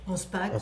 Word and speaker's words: Anspach: Au les cœurs de Solveig Anspach, je le prononce bien? Anspach, oui.